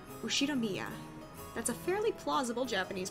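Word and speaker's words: 右代宮: The first part is my family name, Ushinomiya. That's a fairly plausible Japanese pronunciation so far.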